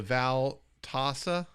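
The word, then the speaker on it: Veltassa: The Valtasa.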